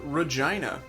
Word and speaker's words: Regina: Also noteworthy, we captured Regina.